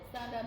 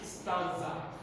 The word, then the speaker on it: stanza: Standard Read one. stanza 1. It's not standard. Say stanza. Speak out. Stanza. See what you are pronouncing. See. Stan, then za. Stanza.